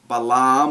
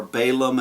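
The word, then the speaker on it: Balaam: this self-contained story of balam or balum as it's normally pronounced in English but balam is described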